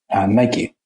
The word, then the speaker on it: Nike: And an example is Nike, or Nike, depending how you say it.